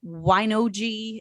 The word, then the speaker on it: Wine-OJI: a little bit about what woi is and I am pronouncing that correctly right yeah you're pronouncing it correctly absolutely excellent yeah thanks